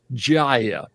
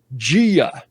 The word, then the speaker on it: Gia: in the first episode I heard someone pronounce that girl's name as jaia but now we find out in episode seven that it's Gia yeah which and I